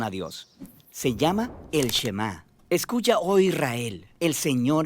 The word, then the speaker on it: Shema: es Oye o escucha Y en hebreo se pronuncia shemá de ahí es de donde viene el nombre